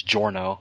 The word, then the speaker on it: Giorno: That's what always interests me about it's Giorno, right? That's how you pronounce that? No, it's Giorno. Giorno. It's just Giorno, not...